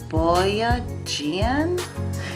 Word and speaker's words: Boyajian: You'll need some pure orange oil, and the brand Boyajian, that's how you pronounce it, but I actually got this off Amazon.